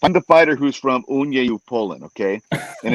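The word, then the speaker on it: Uniejów: the fighter who's from uni poland okay and it's spelled u-n-i-j-o-w and he says oh they love you there because you said the name correct my accent's probably really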